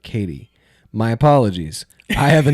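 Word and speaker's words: Cady: Her name is Caddy. Catty Herren. Where are you, Caddy? That's me. It's pronounced like Katie.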